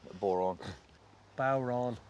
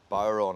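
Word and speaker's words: Bodhrán: the first movie yeah that's an Irish drum Boron Bon right that's how you pronounce it uh it means deafening voice you say Baron I say I said wrong let go your guitar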